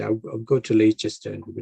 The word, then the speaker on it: Leicester: you don't pronounce the h uh leicester is pronounced as lester than late chester so i don't think they would understand and say i'll go to leicester and say i go to leicester and then